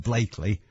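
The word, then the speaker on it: Blackley: away right but why is it spelt blackly pronounced blakely where does it come from and wally range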